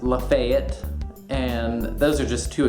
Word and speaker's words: Lafayette: like it should be pronounced Gaston is actually pronounced Gaston and the street uh Lafayette which is after General Lafayette is actually pronounced Lafayette and those are just two examples of the